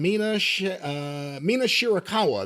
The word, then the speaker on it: Mina Shirakawa: The finish of May versus Cameron with the post-match with Sareeya and Mina Shirakawa.